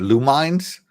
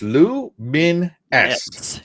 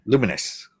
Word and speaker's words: Lumines: The first time I ever saw this game, I pronounced it Lumines. Yeah, I can see where you can pronounce it. But I looked it up on Wiki and it's pronounced Luminous. Yeah. Luminous.